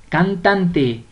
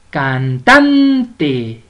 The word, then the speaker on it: cantante: con el correcto ahora vamos con cantante cantante cantan de muy bien cantantes una palabra grave porque lleva la mayor fuerza de voz en la penúltima sílaba vamos con tertulia y